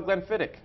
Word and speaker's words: Glenfiddich: Now, but the Scots don't have a holiday, so how do you sell Glenfiddich?